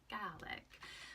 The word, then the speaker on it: Gàidhlig: Scottish Gaelic but in the language it is garlic so the first thing I'm gonna teach you